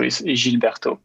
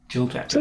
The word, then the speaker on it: Gilles Bertaux: this right all right I'm going to go all FR and pronounce it by way so jilberto jilberto itose it's good it's good